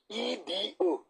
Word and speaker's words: Edo: Please pronounce E for me. Is it E or E? Is it not E? E. Now, if that is letter E, D-O is it not do? Is it not E-do?